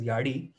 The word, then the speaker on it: Yazhi: A specific pattern that is yadi, yazhi, it is pronounced as yadi.